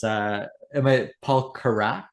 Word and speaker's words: Carrack: The album today, of course, is Paul Carrack is the pronunciation, and his greatest hits compilation.